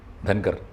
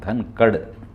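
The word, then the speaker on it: धनखड़: ചെയ്തപ്പോൾ ചെയ്യുന്നതിനു മുമ്പ് തന്നെ ജഗദീപ് ധൻകട്ട് ധൻകർ ധൻകർ എന്നും നമ്മൾ പറയുന്നതാണ് ഉച്ചാരണം ധൻകഡ് കഡ് എന്നാണ് ഓ അവര് അങ്ങനെയാണ് ഈ ബഡോദ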